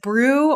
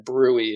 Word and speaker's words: BRUE: but i think the the main reason why the committee decided with brew rather than brewing is we already brewing is a term and we didn't want